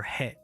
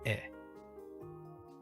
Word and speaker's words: へ: This is the character for he, but it's pronounced e. It's pronounced e. Remember that. It's pronounced e. It looks like he, but it's pronounced e.